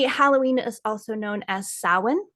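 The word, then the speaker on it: Samhain: the Witchcraft Community Halloween is also known as Sin it's spelled s a m ha a i in and it's pronounced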